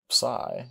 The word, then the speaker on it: psi: Psi is pronounced like a PS. An example is the PS in gypsum.